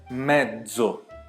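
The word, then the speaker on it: mezzo: A primeira é petso e a segunda é medzo. Tudo bem? Então, uma eu fiz com ts, a outra eu fiz com dez.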